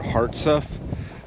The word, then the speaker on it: Hartsuff: I I think I was saying it wrong. It's Fort Hart stuff. There's no stuff. There's no T in the uh in the end of it, but got the enlisted men's barracks.